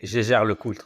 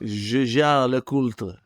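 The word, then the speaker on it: Jaeger-LeCoultre: is you say it and I say my pronunciation. You were very close. I would say Jaeger Le Coultre. Jaeger Le Coultre.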